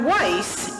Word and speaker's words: Weiss: introduced herself by saying my name is dr. Weiss and it rhymes with nice so you can call